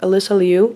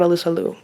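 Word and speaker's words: Alysa Liu: which also turns out alyssa liu that is her name not elisa liu why did they suddenly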